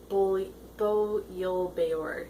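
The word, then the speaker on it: Bo Yul-Bayur: Bo Yil Beor is how you say the guy who's their mark.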